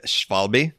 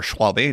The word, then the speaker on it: Schwalbe: Is that a question about if I'm a fan of the Schwalbe marathons?